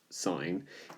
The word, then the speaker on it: sin: to well that's pronounced sine I know it says sin but it's pronounced sine the adjacent divided by